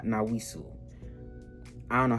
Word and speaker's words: Nassau: I believe it's the Nassau, not Nawisu. I don't know how to pronounce that shit.